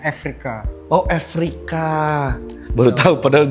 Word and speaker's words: Eureka: secara lisan tulisannya Eureka, tapi untuk penortnya sebenarnya ini dari bahasa Yunani, cara bacanya Afrika.